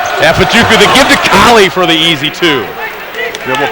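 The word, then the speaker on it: Kale: fajuka they give to kali for the easy two double penetration makes that happen spelled k-a-l-e pronounced kali jonathan collie the sophomore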